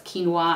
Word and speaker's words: quinoa: it has um or it's not quinoa it's quinoa i always say it wrong but at least it